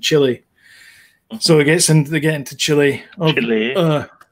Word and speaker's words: Chile: So they get into Chile. Chile. Yeah, that's how you pronounce it.